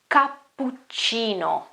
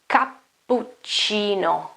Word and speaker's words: cappuccino: Anyway, the right pronunciation should be cappuccino, cappuccino, cappuccino, cappuccino. Also in this case, you notice double P and double C, and the C and I, so CI, is chi, chi, okay?